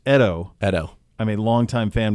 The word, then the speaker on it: Edo: Edo is pronounced Edo.